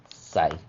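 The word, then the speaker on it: psi: ये सिमिलर दिखता है, और इसका उच्चारण होता है प्स, ठीक है। कैसा उच्चारण होगा, प्स, प्स, ठीक है, प्स। हम लोग पी एस लिखते हैं बट उच्चारण इज प्स, जैसे कि टैप्स, ठीक है, कैप्स, ठीक है, फाइन, लूप्स। तो लास्ट में ये जो प्स आ रहा है ना, दैट इज साई।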